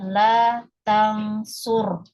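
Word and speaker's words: لا تنصر: Kemudian ro-nya sejajar dengan lam, ya. La taf'ul ya ini sukun. Lamnya di sukun juga. Berarti bacanya adalah la tangsur.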